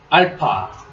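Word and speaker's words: α: 공부해 보도록 하겠습니다 자 첫 번째 글자는 알파 알파 우리 영어에 a 럼 이렇게 생겼습니다 이렇게 쓰는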